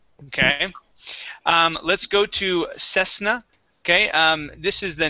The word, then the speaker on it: Cessna: be a uh a unvoiced s sound so CES Cessna instead of ss it is cess try